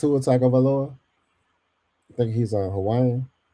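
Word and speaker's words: Tagovailoa: Tag of aoa. That's how you say his name. Tagaloa.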